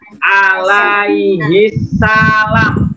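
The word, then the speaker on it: عليه السلام: AS, kalau anak-anak ketemu tulisan AS habis nama Nabi terus AS, bacanya alaihi salam.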